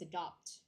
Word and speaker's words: adopt: The A one is adapt, and then the O one is adopt. Okay.